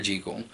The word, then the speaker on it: Jekyll: G cool now but that's how it's actually pronounced I know we all say Jekyll but it's actually pronounced G cool so when he is dr.